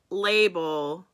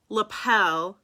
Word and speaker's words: lapel: when i was 18 in public i called label now i called label no see i still can't lapel i called it label because it was spelled